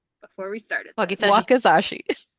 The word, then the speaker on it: wakizashi: Weapons of choice include a katana and a word I should have learned to pronounce before we started. Wakizashi. Wakizashi.